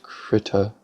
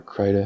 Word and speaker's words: Krita: I've been trying to learn how to use Krita, or Krita, however you want to pronounce it. I've heard it pronounced both ways.